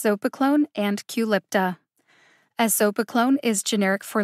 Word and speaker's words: Qulipta: of brand name drugs culipta has only three syllables the emphasis is on the second syllable lip culipta there's nothing particularly tricky